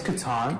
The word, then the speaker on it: Catan: Is it Catan or Catan? It's Catan. Catan.